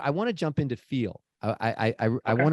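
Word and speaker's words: FE:AL: understand um well first of all what does feel stand for it's by the way uh for for those listening it's spelled Fe colon a l and it's pronounce feel so what does feel stand for so feel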